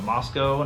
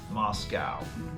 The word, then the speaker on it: Moscow: Russia not not Russia this is Moscow Moscow Idaho so Moscow not Moscow although when you're there